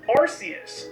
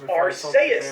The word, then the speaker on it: Arceus: The first official pronunciation for this thing is Arceus, dropped in the game Pokemon Battle Revolution on the Wii. Arceus!